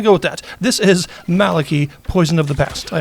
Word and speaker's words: Maliki: I know it's a name, and I know it has various different pronunciations depending on where you are and what language it's coming from, but from what I understand, Maliki is sort of like the most common one, so we're going to go with that.